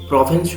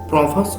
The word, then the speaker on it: Provence: যেটাকে আমি প্রভেন্স বলছি, এটার প্রভস এরকম উচ্চারণ করতে পারো। এবং জিন লেখকের যে নাম সেটা জন জিওনো, এবং প্রভেন্স শব্দটার প্রভাস এরকম উচ্চারণ হবে।